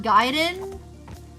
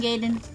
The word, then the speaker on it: Gaiden: Or Gaiden, sorry, I keep saying Gaiden. Bam! Look, you literally spell it G-A-I. Gaiden.